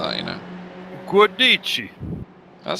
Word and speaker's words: Giudici: So this is Dan Giudici. Giudici. I'm never going to remember to say it like that, you know. Guadici.